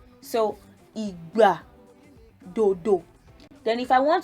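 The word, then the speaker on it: ìgbà: So when you pronounce igba is time, you would know that do is what you need to put on the two syllables.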